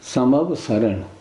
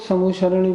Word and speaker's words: समवसरण: फिर अपने समूह कार्यसमिति संभव सरण हम सब लोग समोशरण बोलते बोलने का उच्चारण की शुद्धता रखनी चाहिए कि किडनी दो प्रकार